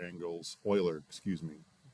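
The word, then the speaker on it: Euler: Transform local uler angles Oiler. Excuse me. J's pronounced oiler. I want to say Uler every time I see it, but it's Oiler. No spoiler.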